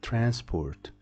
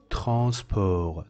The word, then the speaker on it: transport: of J transp transp transport don't pronounce this T at the end transport transport this pronunciation is